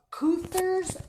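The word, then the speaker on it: Keuther's: From Cuther's Crafts. Spell it, K. K-E-U-T-H-E-R. Cuther's.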